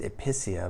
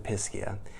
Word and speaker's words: Episcia: to be talking about episcia I guess it could be pronounced epia but that doesn't sound as pleasant so we're going to go with episcia this is a really